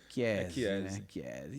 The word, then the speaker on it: Chiese: Eu falo Chiesi, chinelo com maionese, para as Com pessoas maionese. associarem, mas a pronúncia em italiano É Chiesi, Chiesi.